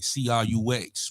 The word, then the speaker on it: Crux: D it's your boy c-r-u-x we pronounce that Crux the problem the turn